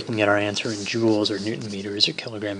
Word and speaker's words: Joule: Joule, spelled like this, and named after James Prescott Joule, not Joule like a diamond or a gemstone.